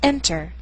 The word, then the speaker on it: enter: unstressed syllable for example this first word is enter the stress is on the first syllable not er listen closely